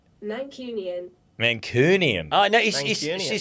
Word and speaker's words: Mancunian: Mancunian.